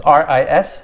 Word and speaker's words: ris: It's R-I-S, spelled R-I-S, but you don't pronounce the S at the end.